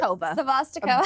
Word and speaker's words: Savostikova: Savostikova.